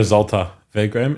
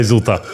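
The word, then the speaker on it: Zwolle: um you go to ZTA vam is that how you say it whatever you want of Z yeah oh holy I was far off same sh we say zult so you went to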